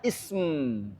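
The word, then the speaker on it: اسم: biasa orang Arab bercanda Ini kebiasaan arab harus ditambahkan HAM di depannya maca maka jadi bacanya ISM ah Kemudian ditambahkan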